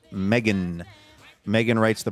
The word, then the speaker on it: Meghan: Yes, but it's pronounced Megan. Megan writes the pronouncer Meggin.